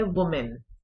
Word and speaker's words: women: विमेन, यहां पर थोड़ा सा एक्सप्लेन कर दूं कि जो वर्ड सिंगुलर फॉर्म है इसकी वो है वुमेन, WOMAN, लेकिन जो WOMEN है that is pronounced as विमेन, विमेन.